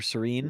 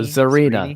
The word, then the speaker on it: Zarina: So yeah, and then you can also use Serena or Serene. Mm-hmm. I don't know how to say it, but the Radiant Serene. Oh, Zarina.